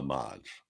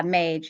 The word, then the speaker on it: mage: So I actually did search this and found out there was a character named Abramelin the Modge. Oh. Should I still pronounce mage?